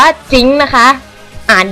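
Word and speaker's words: Jhin: เรียก ผิด อยู่ กัน จน แบบ นะ บาง ที เล่น ๆ อยู่ ก็ แบบ จิ้น จิ้น ยิง จิ้น เออะ คือ แบบ อ่าน ว่า จิ๊ง นะ คะ อ่าน ดี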